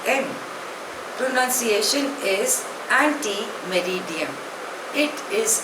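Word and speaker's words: ante meridiem: आर आई डी आई ई N pronunciation is एंटी मेरिडियन इट इज a Latin word it's short form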